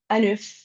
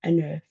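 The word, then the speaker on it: œuf: Anuf, la n se pronuncia igual porque es que an y eso anf an.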